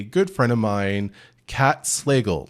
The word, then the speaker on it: Slagle: And I was like, "It's like bagel, but Slagle." But So that's Slagle. that's how you pronounce it.